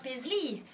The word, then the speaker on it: Paisley: Oui, on a commencé par on le présente plus, hein, c'est Monsieur Brad Paisley. Et oui, le EY se prononce I, donc on le prononce à l'américaine.